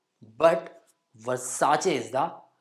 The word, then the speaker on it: Versace: is the correct one same way it's not versac but Versace is the right pronunciation for it I just mean to say